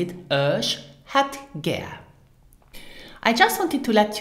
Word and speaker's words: Ech hätt gär: For example, as well for an appointment, then you would use Ich hätt gern and pronounce it Ich hätt gern.